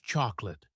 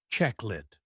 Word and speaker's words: chocolate: And another common one is chocolate. Many people say all the letters, cho-co-late. But in English, we say check-lit.